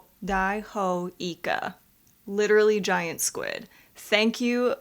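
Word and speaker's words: イカ: squid okay what is it okay it is pronounced Ika literally giant squid thank you for educating us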